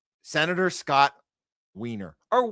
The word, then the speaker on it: Wiener: His name, Senator Scott Wiener, or Wiener, depending on how you want to pronounce this. IE. Wiener would be EI.